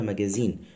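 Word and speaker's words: magazine: من الكلمة التانية اللي هي ام ماجازين، اللي هي الإجابة الصحيحة اللي هي نمرو بي، زد هنا وبعدها مفيش صوت أنفي، مفيش فويل نازال، المهم فبتقولها ماجازين، تانية ماجازان.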